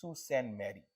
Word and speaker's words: Sault Ste. Marie: Your pronunciation is so bad about these names. It's Sault Ste. Marie.